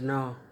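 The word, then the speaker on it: Ngor: My name is Noah. Noah? Yeah. I spelled it. N-G-O-R. N-U-R? No. N-G. N-G-O-R. G. O-R. O-R. O-R. No. Yeah, the G is silent.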